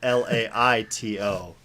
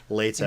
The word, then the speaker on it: Leto: There's like a pronunciation guide in the back of the book, and he's like, it's read Laito, Leto. Interesting. But they say Leto.